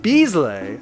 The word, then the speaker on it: Bizzle: Dizzle uh regular says no it's pronounced Beasley and so far is ah like Michael Buble